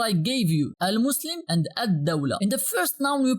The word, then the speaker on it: الدولة: gave you, al-Muslim and al-Dawla. In the first noun we pronounced the full al, but in the second one we pronounced only the alif of al and we skipped the lam.